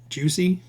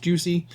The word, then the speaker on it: Jiusi: This is the Juicy. Um, that's the name I'm going with. I haven't I've heard it pronounced Juicy. Um but I haven't heard it pronounced any other way. So we're going with Juicy RC.